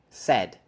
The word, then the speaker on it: said: Said, set. The difference is we have a different consonant at final.